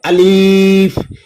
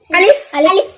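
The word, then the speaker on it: ألف: এখানে লক্ষ্য করো অনেকে কিন্তু টেনে বলে আলিফ এটা কিন্তু ভুল আলিফ এভাবে বলা যাবে না কিভাবে বলতে হবে আলিফ আলিফ আলিফ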